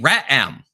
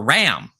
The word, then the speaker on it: re'em: And it's called a re'em. It's spelled R-E apostrophe E-M, or ram, a beast that was